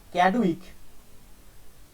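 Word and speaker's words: Chadwick: তার মানে বললো তখন এরা ছেড়ে দিল 1932 সালে ক্যাডউইক, যার বাংলা বই লেখা থাকে স্যাডউইক, যাই হোক সিটাকে এসে উচ্চারণ করে, ক্যাডউইক বলল যে এই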